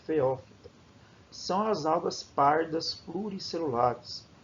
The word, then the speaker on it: Phaeophyta: Esse aqui se pronuncia Phaeophyta.